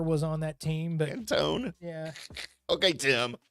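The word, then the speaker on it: Antoine: the Lakers may have been the fact that Anton Walker was on that team but Antone yeah okay Tim say his name right no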